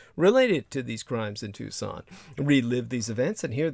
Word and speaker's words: Tucson: Tucson is spelled like tuxen Tu s o n put the word the